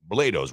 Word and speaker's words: Blados: Listen, and Mike's trying to come back with Blados rhymes with play.